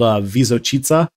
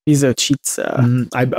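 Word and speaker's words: Visočica: It's called Vizočica. Vizočica. My Bosniak is terrible pronunciation.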